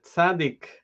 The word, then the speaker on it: tzadik: of light is a letter sadiq also pronounced sadie we're actually going to be speaking about um two different meanings connect to those two possible pronunciations of the letter okay